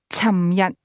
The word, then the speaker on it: 尋日: However, a speaker from Guangzhou, is more likely to say 尋日. For the most part, differences in pronunciation are minor, and speakers from the two areas have no difficulty understanding each other.